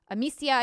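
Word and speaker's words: Amicia: for their trust i can't wait to bring amecia and hugo's journey to the screen is that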